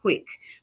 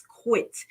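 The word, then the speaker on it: quitclaim: y'all know my accent I'll be saying quick but it's quit and I remember as quick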